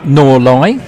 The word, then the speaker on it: North Leigh: lord of the manner of norly if I pronounce it like the locals do and the Mason's arms